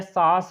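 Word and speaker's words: sauce: और यहाँ पर देखेंगे यह सॉस हो जाएगा, सॉस, सॉस उच्चारण समझना, ए यू साथ आएगा तो क्या पढ़ेंगे, सॉस पढ़ेंगे, सॉस।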